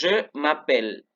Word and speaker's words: je m'appelle: Entonces, je m'appelle. Ojo, no se pronuncian estas dos letras de aquí.